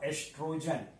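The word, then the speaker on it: oestrogen: कुछ बुक्स में आप पाएंगे इसको लिखा हुआ एस्ट्रोजन। तो बोथ आर सेम, यहां पर ओ साइलेंट है तो एस्ट्रोजन ही बोलते हैं, ओ से कहीं लिखा रहता है कहीं ओगी से, सो डोंट बी कंफ्यूज्ड।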